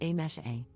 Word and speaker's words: Amise: For context, my name is written as Amise, but is pronounced as A-mesh-A. So my name consists of just 3 sounds and is completely pronounceable